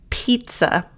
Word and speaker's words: pizza: Pizza. Now this one, you've got 2 Z's and you don't pronounce either one like a Z. So it's Pete, sa, pizza, hope, happen.